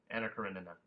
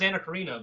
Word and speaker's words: Anna Karenina: I always thought it was Anna Karina, but there's an extra. There is N an extra. There's an extra N in there, and it trips you up.